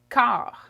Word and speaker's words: quart: quarter in french is car okay the u is silent and this t is also silent okay it looks the